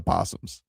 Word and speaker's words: opossums: When did they just go from when did they go from opossums to possums? Nobody ever pronounces the O.